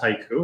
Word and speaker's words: HYCU: Is it HYCU? The company's pronounced haiku and we stand for hybrid cloud uptime.